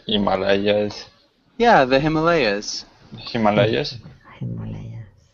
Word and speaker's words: Himalayas: Yeah, the pronunciation of Himalayas is Himalayas, Himalayas, Yeah, the Himalayas.